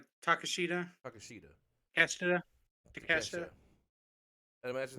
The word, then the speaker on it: Takeshita: He had the match with Takahashi, or is that how you pronounce his name? Takeshita.